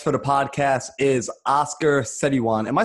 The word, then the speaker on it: Setiawan: my last name uh but the way you pronounce it is satiawan it's a tiawand all right so i'm here